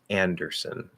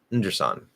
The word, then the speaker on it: Anderson: In the last syllable, it has the cot vowel instead of son. Okay, so Anderson. Anderson. Anderson. Anderson. Anderson. I would make that a little clearer. Anderson. Anderson. Anderson. That's son. Son isn't even a word. It just sounds like under and then son, whatever son would be.